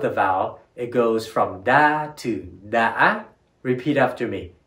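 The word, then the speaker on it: đã: Our next word is da, which rhymes with ya or ma. But because of the tilde above the vowel, it goes from da to da.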